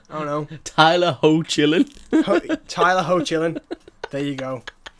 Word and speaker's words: Hoechlin: It actually says ho. Yeah, exactly. Hoechlin, yeah. Hoechlin, I don't know. Tyler Hoechlin.